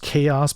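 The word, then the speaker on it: Xaoc: weird name with the i think this is pronounced chaos but they spell it like x-a-o-c you know which i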